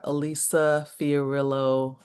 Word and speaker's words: Elisa Fiorillo: We're gonna do, let's actually, before we do that, what is next for Elisa Fiorillo Alorza? Did I pronounce it right?